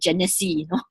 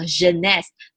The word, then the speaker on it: Jeunesse: word I college at genesee right so the way to properly pronounce this is called Genest z h e and e ashton s and this is a French word right French word meaning